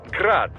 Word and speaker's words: Grad: Technically, the UG's name is pronounced Grad, the Ukrainian way. But most in the business pronounce it as Grad, Russian style.